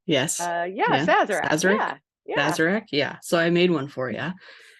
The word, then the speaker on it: Sazerac: So that's how you pronounce it, right? Yes. Sazerac.